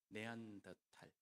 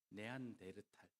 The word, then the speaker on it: 네안더탈: 물론 네안데르탈이라는 이름은 일본의 발음을 영향을 받아서 그렇습니다. 네안더탈이 맞습니다. 네안더라는 이름과 탈이라는 계곡이라는 이름이 함께 합쳐져 있기 때문에 그렇습니다.